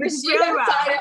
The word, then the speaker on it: Rashidah Fido: Rashidah Fido.